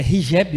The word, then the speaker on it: hijab: E é hijab o nome, a pronúncia?